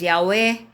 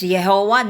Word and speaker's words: Yahweh: yod he vav he some pronounce that as yahwe others pronounce that as Jehova no how that is pronounced kaya all CS